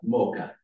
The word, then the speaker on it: Mocha: You pronounce it as Mocha. It has nothing to do with combining coffee and chocolate. That's a crime against our culture.